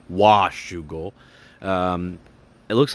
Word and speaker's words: Washougal: correct me and say that I need to pronounce wash Google um it looks like Alpine Stars got a